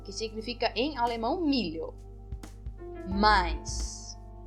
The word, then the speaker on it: Mais: significa em alemão milho mais também pronuncio como a i kais kais o a